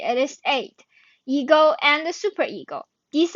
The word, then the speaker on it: id: elements known as eight it is not pronounced as id it is eight ego and the superego